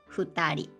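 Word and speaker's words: 二人: just two exceptions one person hitori two people futari otherwise right and 100 people yeah it's just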